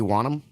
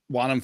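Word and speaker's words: Wonnum: Nate, you correct the spelling on or my pronunciation on this, but is it DJ Wanham? Yeah, DJ Wanham.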